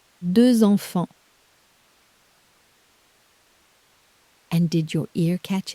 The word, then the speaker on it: deux enfants: The number two ends in one of day one's silent letters, but the word for children starts with a vowel so the sleeper wakes up. A little Z glues the two words together.